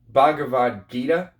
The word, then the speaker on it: Bhagavad Gita: penguin classics edition of the bhagavad gita is how it's actually pronounced you know i uh